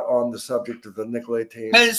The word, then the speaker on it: Nicolaitans: How do you pronounce Nicolaitan? Nicolaitans.